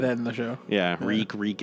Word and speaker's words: Reek: Yeah, Reek, it rhymes with leak.